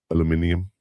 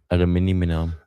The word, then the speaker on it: aluminium: Aluminium. Aluminum. No, aluminum. Aluminum. Aluminium. That's how they say it in England.